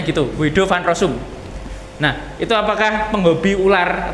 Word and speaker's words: Guido van Rossum: Kemudian bahasa ini diciptakan oleh Guido van Rossum pada tahun 1991.